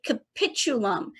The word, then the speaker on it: capitulum: with uh pronouncing that it is a capitulum think the word capitulate meaning you will give in